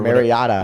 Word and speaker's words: Mariota: yeah, unless Roger Goodell pulled a Marcus Mariota or Mariota.